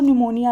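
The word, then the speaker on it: pneumonia: है आपका प्यार और निमोनिया लाइक और विसंगति से player media player pro निमोनिया like और गणेशम पी0 पी0 जिसमें आप जानते कि साइलेंट होता है इसलिए आपको लग रहा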